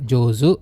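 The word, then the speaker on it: 上手: Ini kanji tangan tapi tidak dibaca t. Keduanya termasuk cara baca khusus. Jadi teman-teman hafal aja. Kanji atas dan tangan bacanya jozu artinya pintar. Kalau kanji bawah dengan tangan bacanya heta artinya bodoh.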